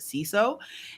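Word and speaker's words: Siso: dr ceso c-so s-i-s-o but you pronounce it c-so and if you've missed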